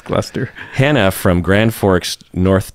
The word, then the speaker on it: Gloucester: So Gloucester is probably how it's pronounced, right? Gloucester. Gloucester, like Worcester, right? Yeah. Gloucester.